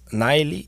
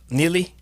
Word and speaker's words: Nili: name properly because your name has a different pronunciation it's niley niley niley neely neely okay i'll give you a needy block